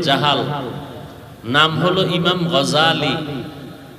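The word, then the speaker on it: غزالي: নাম হল ইমাম গাজাল। বলে গাজ্জালি না গাজালি বিশুদ্ধ উচ্চারণ গাজ্জালি না আর আল্লাহ যদি কবুল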